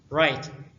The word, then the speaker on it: write: right در اینجا حرف W تلفظ نمی شود.